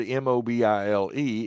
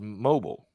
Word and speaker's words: Mobile: in the english language the word m-o-b-i-l-e is mobile but in this city it's mobile and if you're from out of state or out of there and you come in and you say i'm in mobile alabama you will get corrected i'll i'll correct someone